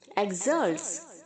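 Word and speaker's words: exult: Okay, एक्सल्ट्स, एक्सल्टिंग, इसको आप कैसे प्रोनाउंस करेंगे? ई के आगे जो एक्स है वो जी और जेड की तरह प्रोनाउंस होना चाहिए, एक्सल्ट।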